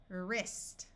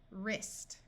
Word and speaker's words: wrist: start of a root the W will be silent so this sound is ER wrist wrist wreck we can add